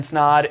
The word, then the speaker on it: Snod: My name's Snod. It rhymes with odd, and I'm out.